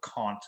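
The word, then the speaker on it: Caunt: man named robert conte and that's c-a-u-n-t so kant is how i'm going to pronounce it like gaunt i don't know um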